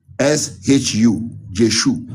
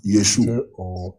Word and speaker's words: Yeshu: But the real pronunciation is J, if you want to use J, the word J, J-O-S-H-U, Jeshu or Yeshu.